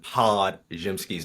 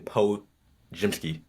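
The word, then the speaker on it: Podziemski: D out of Brandon pod jimsky name pod jimsky his nickname is literally pods and you said Brandon PO jimsky with a J this is becoming a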